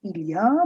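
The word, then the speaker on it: il y a: fact the word is ilya but often while speaking the l kind of gets a little a little watery it it's a little light on the tongue you don't say yeah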